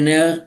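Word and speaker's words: Neher: La obra de André Ner está en español.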